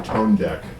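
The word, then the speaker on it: ToneDEQ: There's also a preamp they have called the tone deck. or the tone DEQ as it's spelled.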